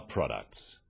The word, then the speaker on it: products: The wrong stress makes it hard to understand. So, conclusion, not conclusion. Products, not products.